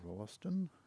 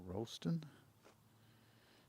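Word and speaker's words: Rolleston: It's just over Rston or Rollston. Depends on which school you went to as to which way you pronounce it.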